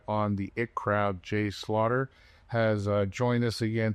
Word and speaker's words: Slaughter: Josh seems to think there's an H in there somewhere.